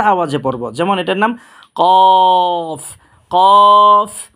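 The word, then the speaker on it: ك: সাথে লাগিয়ে মোটা আওয়াজে পড়বো যেমন এটার নাম কফ কফ কফ আর এটার নাম হচ্ছে কাফ এটা উচ্চারণ হবে আপনার জিহ্বার ঘোড়া থেকে যে হরফটা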